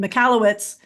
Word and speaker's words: Michalowicz: Mike, I'm going to say it right again, Michalowicz, you say, you know what?